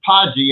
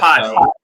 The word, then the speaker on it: Poggi: So we pronounce it Poggi in Italy. But Poggi.